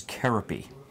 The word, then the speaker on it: Kerope: K comes from is his formal pronunciation of his name is Cara P so when Cara P Zildjian took over making symbols and Turkey he changed the trademark to K .